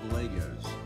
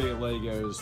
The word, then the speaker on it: Lego: to see lots of Legos so I figured that's what I'd show you lots of Legos for Lego and that's properly pronounced it's funner to say Legos though so we'll just go